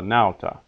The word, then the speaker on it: nauta: Words of two syllables are accented on the first syllable. Silva, nauta. Not silva or nauta, but silva, nauta.